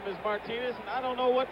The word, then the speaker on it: Martinez: reggie jackson's middle name spelled the same way pronounced martinis we're just been calling him luck martinez for i don't know how many years but now we're told that the absolute correctness of the pronunciation is martinez right phil mason three to two paul gets